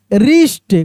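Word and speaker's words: wrist: रीस्ट खूब ध्यान से देखिए।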